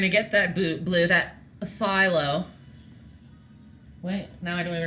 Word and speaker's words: Phthalo: A silent P? Unacceptable. Silent letters are dumb. Okay. We are... No, not you. I've literally been calling it Pathylo for a very long... my whole life. To you guys, too. No one's corrected me. So I've just taught a million people it wrong.